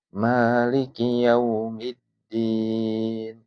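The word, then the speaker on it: مالك يوم الدين: Nah, sehingga kita bacanya Maliki yaumiddin.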